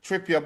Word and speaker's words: Trippier: on come on you said it right trip trippa but the tripa that we're seeing now is